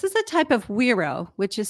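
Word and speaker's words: güiro: listen to this this is a type of weero which is spelled GUI r o and it's a rigged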